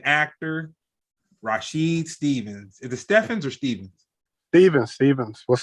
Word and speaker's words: Stephens: actor comedian comedian actor rasheed stevens is the stefans or stevens steven stevens what's up people okay that's right it's one of those names yeah it's it's spelled stephanie's but it's pronounced stevens okay my slave masters were creative man